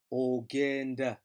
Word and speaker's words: ogenda: You go, ogenda. Ogenda, remembering that G is a hard G.